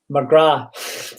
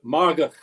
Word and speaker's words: Margach: He's got a very special middle name that I can never pronounce, so I'm going to butcher it now. McGrath. But no, that's not sorry. No, Margach.